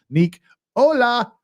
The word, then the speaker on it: Nicola: name to bifrons it's Nicola like Tesla Nick Ola that's like hello Nick hi Dr Nick hi everybody hi Dr Nick so that's Ju Just think of her as Dr Nick from The Simpsons hi Dr Nick hi